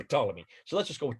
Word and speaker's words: Ptolemy: second century a.d ptolemy you don't pretend you don't uh pronounce his let his first letter p just say ptolemy but i see it